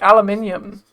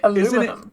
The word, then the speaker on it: aluminium: Um, some things are are they spelled the same, but they're like said differently. Like aluminium. Aluminium. Well, is it spelled differently for you guys? Cuz you say aluminum.